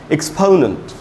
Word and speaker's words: exponent: MNOP, तो actually उसका उच्चारण ओ नहीं होता, उसका उच्चारण होता है आधा अ और छोटा उ, अ, इसलिए इसको कहा गया एक्सपोनेंट। और ये जो है NENT उसको पढ़ेंगे नंट, एक्सपोनेंट।